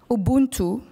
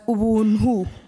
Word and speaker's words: Ubuntu: You might have heard of one of them, Ubuntu. Mm. It's actually pronounced as Ubunhu.